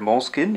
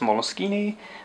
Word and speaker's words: Moleskine: I'm using the word mol skin improperly I I know it is an Italian word and it is usually pronounced molini or at least that's its proper pronunciation I just go with mkin and wrong that may